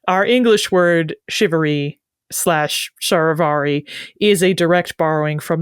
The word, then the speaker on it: charivari: as you correctly guessed from that initial CH pronounced like sha our English word shivery SL sharvari is a direct borrowing